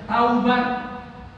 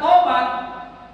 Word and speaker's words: taubat: Contoh misalnya ke Bapak Ibu bacanya taubat. Taubat, tak, waw, ba, tak, taubat. Artinya roja, yarji'u, kembali dari benar, dari salah jadi benar, dari maksiat ke taat, taubat. Tapi bacanya tobat, artinya kelereng. Bapak Ibu bacanya tobat apa taubat? Bacanya tobat, tobat itu artinya kelereng.